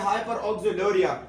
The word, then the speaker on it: hyperoxaluria: इसका प्रोनाउंसिएशन है हाइपरकैल्सीमिया और इसका मतलब है हाइपर ऑक्सिलूरिया और इसका नाम है हाइपर यूरिसीमिया।